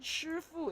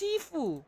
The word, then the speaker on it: Sifu: She said Shifu. It's Sifu.